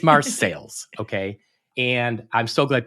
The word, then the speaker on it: Marseilles: who have noted that I have been mispronouncing the name of Marseilles. It's not the fancy French name I was using. My apologies. It is Marseilles, okay?